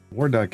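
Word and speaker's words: Warduke: Waruck is here though. The E is silent.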